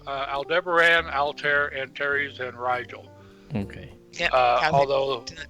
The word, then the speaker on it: Rigel: aldebaran altair antares and rigel okay although although the sheik pronounced it regal and now kathy